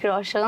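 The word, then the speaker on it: रोशन: শেষ হয়ে গেছে ঋত্তিক রওশন খালাম্মা ঋত্তিক রওশনের নামটাও সুন্দরভাবে উচ্চারণ করতে পারে না তারপরে আবার বলতেছে এ নাকি তার ক্রাশ ঋত্তিক রওশন খালাম্মা ওইটা ঋত্তিক রওশন না ওইটা রওশান হবে রওশন টিকটকার বলে কথা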